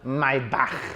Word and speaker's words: Maybach: with the Mercedes s600 Maybach what a machine or my back why back many of you said I should pronounce it oh my back so the Maybach a